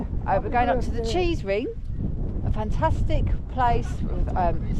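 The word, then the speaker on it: Cheesewring: of them I mean it sounds like cheese ring it's not cheese you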